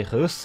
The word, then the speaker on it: Reus: Manuel and boss and they have told me how to properly pronounce it apparently if I just say hus in a French accent sounds awesome so I'm going to